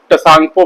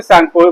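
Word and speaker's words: Tsangpo: एक चीज ध्यान देने वाली है, यहाँ पर जो टी का वर्ड है वो साइलेंट होता है, ठीक है। ये साइलेंट होता है, नहीं तो इसे बहुत लोग टसांगपो पढ़ते हैं, लेकिन ओरिजिनली में टी यहाँ पर साइलेंट होता है तो इसे सांगपो बोला जाता है।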